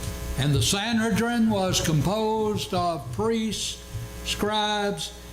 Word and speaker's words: Sanhedrin: presided over the Sanhedrin and the sanadrin was composed of priests scribes and heads of families and your Bible probably marks that Sanhedrin and with a long e and that's quite fine we're talking about the